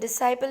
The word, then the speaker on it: disciple: When Raghunath, his disciple, his student, disciple means student, and the correct pronunciation of this word is disciple.